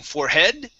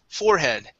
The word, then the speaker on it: forehead: Instead of putting the stress at the end of the word saying forehead, the word is forehead.